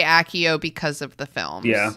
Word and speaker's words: Accio: Yeah, before the films, I definitely pronounced this letter as if it were an X. Like, I did, like, Axio. Axio. But now I tend to say Accio because of the films.